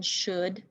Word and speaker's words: should: hear the sh sound but the second sound the uh sound is the tricky part of the word you would expect it to be spelled o but it is spelled o u l and the last sound